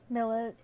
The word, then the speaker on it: Milet: Milet? I still don't know how to say her name. Millet.